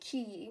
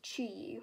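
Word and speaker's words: QiYi: think you pronounce it key but actually it's pronounced key with like a CH sound this is sound a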